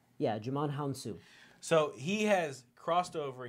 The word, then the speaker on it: Djimon Hounsou: you realizes this guy yeah you're gonna just pronounce his name huh his name is Djimon Honsou yeah Djimon Hounsou so he has crossed over he was in